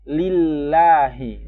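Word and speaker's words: لِلَّهِ: Biasanya kan kalau ismul jalalah itu dibacanya tebal. Allah. Tebal kan. Allah. Lamnya itu tebal. Tapi karena di sini sebelumnya kasroh, dia dibaca tipis aja. Tapi tetap ditekan sebagaimana lam tasdid yang lain.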